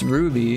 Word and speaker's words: RWBY: I've never seen this never heard of it pronounced Ruby is an American animated web series created by